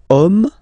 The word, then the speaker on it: homme: Okay, and then here we've got the word homme, man, okay? But then it starts with H, as in French, H is not pronounced, so the first sound that we hear is O, okay?